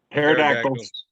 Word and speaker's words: Pterodactyls: Pterodactyls. Nice. Yeah. Or Spelled with a P.